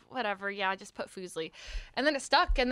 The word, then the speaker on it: Fuslie: profusely yeah it's but it's how everyone mispronounces it so i'm not going to be like actually it's foosley so yeah don't don't be